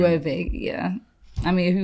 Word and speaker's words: Loewe: Like but, even Loewe, we were just realizing. Yeah, I really thought it was low. Which is crazy. Because who would think that the W... Loewe, yeah.